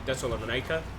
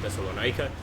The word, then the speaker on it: Thessalonica: We're actually close to Thessalonica, and that is the way you pronounce that, Thessalonica. I've lived in a Greek neighborhood long enough to know. Or Thessalonica, perhaps.